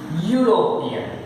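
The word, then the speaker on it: European: Union, ए, utensil, ए यूरोपियन, यहां एक देख लेना, यूरोपियन का पहला लेटर ई है, पर ई पढ़ा नहीं जाता, साइलेंट है। यहाँ पे दो वावेल है, ई यू, पर ई साइलेंट है।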